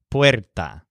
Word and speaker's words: puerta: For this reason, his word for door has the stress syllable wear, puerta.